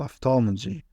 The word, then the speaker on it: ophthalmology: Or PH, that pronounced F, for example, ophthalmology or physical activity.